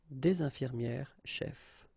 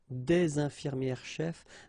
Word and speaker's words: infirmières chefs: thing, une infirmière chef, des infirmières chefs. The only difference will be here in the liaison, because actually you don't pronounce this final S here or here.